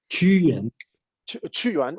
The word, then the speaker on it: Qu Yuan: Qu Yuan is like, yeah, imagine CHU, okay, because the Pinyin pronunciation is not very user-friendly for English-speaking person.